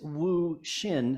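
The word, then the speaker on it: Wu Hsin: for thirsty fish and the author is Wu Shin that's spelled h s not sh but h-s-i-n and it's edited by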